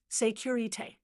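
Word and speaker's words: sécurité: The safety signal is secure, pronounced securite, repeated three times.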